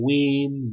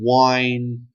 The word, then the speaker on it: Wein: I think that's how you say it, Wein. I've heard people call him Wein, Wine, whatever. I'm saying Wein.